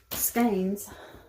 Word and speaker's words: skein: I think it's skein like cane. I think I looked it up and said, okay, surely I can remember that. It's pronounced just like my name. Okay. Skein like a cane.